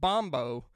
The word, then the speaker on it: bombo: used the huns amor bum bows and no i'm not mispronouncing bongos it is actually a type of drum called Bombo that's from like South America somewhere I think